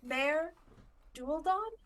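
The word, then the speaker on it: Maer Dualdon: Mare Dualdon, one of the three major Merdulden?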